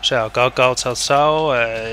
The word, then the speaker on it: Cao Cao: Oh, bueno, Cao Cao, que sería la pronunciación china.